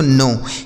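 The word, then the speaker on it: know: इसे पढ़ा जाता है दोस्तों नो।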